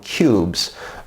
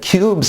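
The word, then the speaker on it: Qubes: succeeded running electrum on cubes and cubes is an operating system it's it's spelled q.u.b.e s and it's an operating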